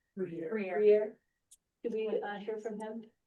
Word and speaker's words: Bruyere: can someone tell me how to pronounce his last name? Briere.